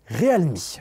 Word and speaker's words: realme: prononciation de la marque, ça se prononce officiellement Realme.